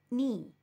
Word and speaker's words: knee: middle of my leg k is silent here so it is read as knee k n e e